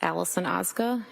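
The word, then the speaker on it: Allison Ozga: Tell us your name, please, and spell it. It's Allison Oza.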